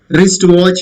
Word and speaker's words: wristwatch: Wristwatch, you say. Okay. It is not wristwatch. It is not right. W is there, but it is not pronounced. So W is silent here.